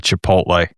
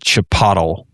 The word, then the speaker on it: Chipotle: She she was very excited that they got a Chipotle and she pronounced it chapatle.